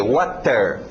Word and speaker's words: water: No inglês os T's são bem nítidas. Pensa no nordestino, T, water. Okay? Agora, já sei, vão ter alguns de vocês que vão dizer, mas professor, eu aprendi water. Sim, você aprendeu uma pronúncia rápida.